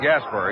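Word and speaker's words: Gaspar: Rod Gasper, he spells his name G-A-S-P-A-R, pronounces it as it were spelled E-R.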